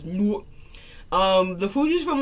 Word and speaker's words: Newark: It's Newark.